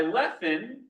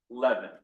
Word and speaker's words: Lefin: So the V in German and Yiddish is pronounced as an F, which is why Rabbi Lefin is pronounced Lefin and not Levin, because he came from that pronunciation.